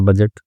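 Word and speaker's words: budget: India में आता है हर साल नया बजट तो वही है। ठीक है? तो यहां पे डी साइलेंट होता है। ठीक है? बजट okay बजट at first पहले तो आई हेजिटेटेड।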